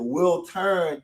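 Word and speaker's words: Wiltern: And then we have Prince's performance at the Will Turn Theater. Am I pronouncing that right? Will turn. Yeah. Will turn.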